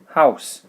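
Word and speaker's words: Haus: is here house das house the au sound is an owl sound not an oi sound as you saw over here and find but ow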